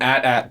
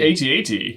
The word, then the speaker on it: AT-AT: Now you got comments being like, it's an at Ben. I'm sticking with AT-AT. I think the AT-AT. When people say at, I'm like, no, please say it as AT-AT.